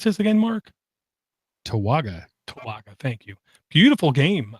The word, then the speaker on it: Towaga: How would you pronounce this again, Mark? Towaga.